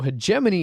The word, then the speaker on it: hegemony: was a kid much like leagues that i pronounced league use when i was young thanks phonetics yes anyway so hegemony is a one to four player board game